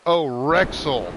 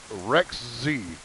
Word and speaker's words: Rexy: By the way, Grim pronounced Rexy as Rexel. My bad. I and L looks exactly the same in chat, so there's that. The Rexel or Rex L. And Rex is pronounced, Rex Z.